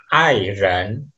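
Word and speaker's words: 爱人: Ya, aksara ini kalau di Mandarin bacanya adalah airen.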